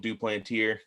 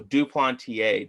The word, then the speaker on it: Duplantier: i've i've called him i called him duplanteer until i saw and looked how to pronounce his name uh so duplantier john duplantier um debuted in